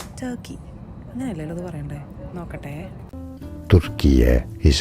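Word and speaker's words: Türkiye: Turkiye is how you say Turkey.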